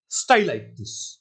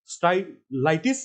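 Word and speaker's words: Stylites: फाइलोग्लोसम, Selaginella, आइसोइटिस एंड स्टाइलाइटिस। स्टाइलाइट्स नहीं बोलना इसको, this is a close relative of isoitis. Stylitis is a close relative of isoitis, so you have to pronounce it as stylitis.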